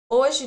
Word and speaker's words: hoje: Hoje de noite. Hoje, today. Hoje, today. The H is silent. We don't pronounce the H when it's in the beginning.